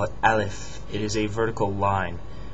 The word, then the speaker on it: ا: They call it Aleph. It is a vertical line. It's pronounced just like A, the A in English, Aleph.